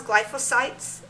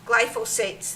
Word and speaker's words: glyphosates: It has glyphosites. I believe that's how you state it, but if I'm not saying it correctly, pardon me. Glyphosates, thank you.